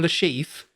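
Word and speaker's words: Le Chiffre: I'm assuming it's something where they looked it up and was like, "Okay, well technically that's a French name, so the way you were pronouncing it is Lashifur."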